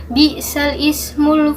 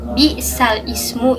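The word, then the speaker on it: بِئْسَ الِاسْمُ: ini, pada potongan ayat bi'sal ismu inilah yang disebut dengan bacaan naql. Cara membacanya yaitu dengan cara memindahkan harokat alif kasroh pada lam mati yang berada di sebelumnya. Jadi cara membacanya adalah bi'salismu, bi'salismu.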